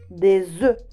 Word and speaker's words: œufs: Exemple, un œuf, un œuf. Ici, j'ai prononcé la consonne finale du mot œuf, f. Mais au pluriel, non, des œufs, des œufs. Mais si vous allez prononcer le F, au pluriel des mots un œuf, c'est incorrect. Attention, un œil, des yeux.